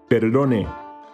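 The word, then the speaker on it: perdone: me we use peredone just take some time to practice flipping that r so it's not a trilled art it's not but a single touch with the tip of the tongue against the gum ridge so how would we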